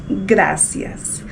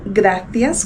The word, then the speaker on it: gracias: La première expression à connaître et qui est très courante dans la vie de tous les jours, c'est gracias ou gracias comme on prononce en Espagne.